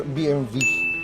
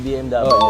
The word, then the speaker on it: BMW: Pero ang ang sabi sabi ng mga European na ang correct pronunciation daw non is BMV. BMV. B. Ah hindi pala. O. So guys alam niyo na ngayon BMV pala. Hindi pala BMW pero nakasanayan kasi dito